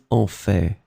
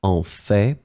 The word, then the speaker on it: en fait: The first one would be en fait, and then in some cases people pronounce it en fait. So they pronounce this final T here.